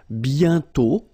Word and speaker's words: bientôt: And then bientôt, okay? Remember, you put this accent circonflexe, but you don't write it. You write it, but you don't pronounce it. And then the final T is not pronounced.